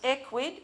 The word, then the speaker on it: Ecwid: a a Cloud solution it's um equid is pronounced equid short short for e-commerce widgets um and by